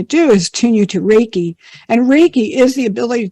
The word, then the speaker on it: Reiki: Did I pronounce that correctly? Yes. Reiki.